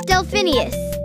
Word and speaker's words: Delphineus: as i was trying to say my name's delphinius what delphin e us got it el